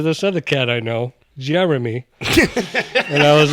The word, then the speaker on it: Jeremy: jery oh I know everybody says jery there's in there you know what I genuinely would prefer to the mispronouncing of Jeremy like it's it's supposed to be Jeremy but that [ __